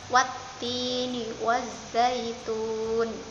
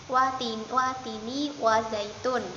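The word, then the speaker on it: وَالتِّينِ وَالزَّيْتُونِ: Nah, di sini ada yang namanya tanda tasydid anak-anak. Nah, huruf yang mendapat tanda tasydid itu dibaca rangkap. Wattini wazzaitun. Kalau tidak ada tasydidnya kan biasa bacanya watini wazaitun. Itu kalau tanpa tasydid. Jadi watini. Kalau ada tasydid, itu wanya langsung mendapatkan huruf taknya.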